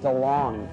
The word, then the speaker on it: DeLonge: I am Tom DeLonge, but it should be DeLonge, because I went to France and they said you're pronouncing it wrong. I'm all DeLonge. No, which is DeLonge. And I was like, yeah, that sounds right.